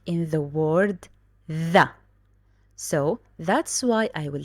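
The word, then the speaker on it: ثاء: aware of a point this th like the word think because you know there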